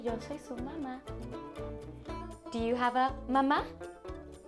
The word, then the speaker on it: mamá: It's the same word, it just has an accent at the end. So instead of mama, it's mama.